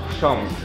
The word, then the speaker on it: Książ: As I said, they are hard to pronounce, okay? So this one is książ.